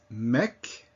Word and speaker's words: mec: So among those that are usually pronounced are the C. Repeat after me. Bac, mec, sac.